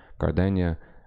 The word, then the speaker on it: Gardena: town of city of Gardena or as it should be pronounced because it's a Spanish word gardenia in southern the south